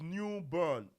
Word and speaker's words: New Bern: But to be clear, Uche, it's New Bern, B E R N, but it's pronounced burn, like B O r n.